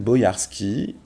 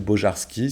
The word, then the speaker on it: Bojarski: C'est donc l'histoire de Jan Bojarski, ou Bojarski, ça dépend de votre prononciation française ou polonaise.